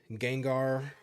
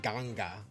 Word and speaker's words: Gengar: So, black has Charizard, Greninja, Gengar, or as one of my friends pronounced it, Ganga. I'm not joking. They They literally said Ganga.